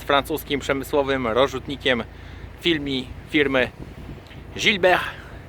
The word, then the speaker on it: Gilibert: przemysłowym rozrzutnikiem filmik firmy gilberg niektórzy mówią Gilbert jest to firma gilberg znam francuski doskonale więc wiem jak te nazwy się wymawia gilber Helios 12 maszyna z